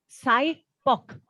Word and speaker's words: SIPOC: And it's pronounced as SIPOC.